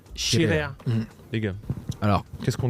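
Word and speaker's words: Scirea: Alors, et SC en italien, c'est Chirea.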